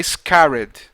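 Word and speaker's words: scattered: código sct que é scared né E esse T aí te quase não perdão quase não se pronuncia Então esse scared é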